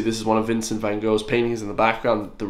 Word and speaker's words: Van Gogh: Van Gogh, actually, is how you pronounce his name. Not Van Gogh, not Van Gogh. It's Van Gogh with a H.